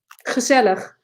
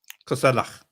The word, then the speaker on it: gezellig: Gezellig. Gezellig. Gezellig. Gezellig. What does that mean? Dude, I'm Jewish. I should be able to do that pronunciation. It sounds like you have like phlegm in your throat.